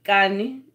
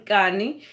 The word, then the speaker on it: Kani: That's Kani. It's actually John Kani, and that's his name, and he's actually South African, and he speaks Xhosa.